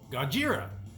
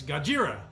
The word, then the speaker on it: Gojira: they changed it to the pronunciation of Godzilla as far as how the Japanese pronounce it and that's God jeera so it's gojira or we say Gojira